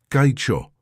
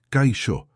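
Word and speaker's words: kaixo: ¿Puedes repetirlo, Kao? Intentó Ricardo, pero la pronunciación sonó forzada y extraña en su boca. No, no, escucha. Kaio. La ex se pronuncia como sh.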